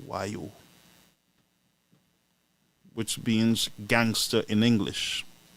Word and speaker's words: Voyou: It was better than the other one, whose name is Voyou, pronounced Wayu, which means gangster in English.